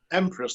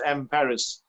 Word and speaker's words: Emperis: It's not Empress like people think it is. It's Emperis.